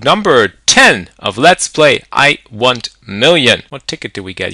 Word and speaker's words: Iwontmillion: It is Iwontmillion with an O. Pronounce it in a European style. Iwontmillion.